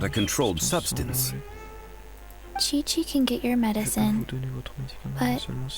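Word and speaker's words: Qiqi: I am Chi-Chi. Ah ça se prononce Chichi.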